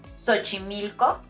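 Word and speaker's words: Xochimilco: sounds like a j sometimes it sounds like an S take these two words for example sochimilco and michiote in the first one it sounds like s in the second one it sounds like CH the reason for this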